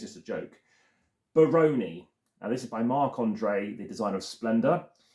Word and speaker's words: Barony: But this person has pronounced it Baroni, like pepperoni, because it's emphasis on Rony, R-O-N-Y.